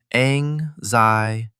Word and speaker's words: anxiety: 4 syllables. Anxiety. Stress on the second syllable.